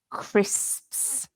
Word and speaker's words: crisps: crisps which is um a very difficult word to pronounce isn't it crisps because it's got lots of consonants in it so crit like um